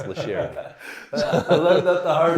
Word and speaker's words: LaCharity: And LaCharity is spelled like LaCharity, but pronounced LaCharity.